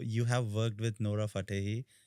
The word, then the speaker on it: Fatehi: So you have worked with Nora Fatehi, right? Did I pronounce her name right? Yes, you Fatehi.